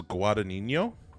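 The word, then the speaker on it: Guadagnino: I should have uh I think it's guadino I think that g is silent guadino um yep uh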